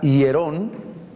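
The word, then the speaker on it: ἱερόν: usaban dos palabras griegas la palabra hierón así se pronuncia y la palabra naón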